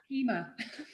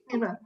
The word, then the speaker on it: Pema: on I've always called her Kima. Pema.